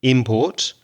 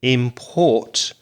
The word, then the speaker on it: import: import and export so the noun again has the stress on the first syllable import and the verb import is stressed on the second syllable so here's a question